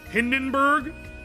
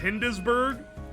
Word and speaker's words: Hindenburg: Hindenburg instead of Hindesburg.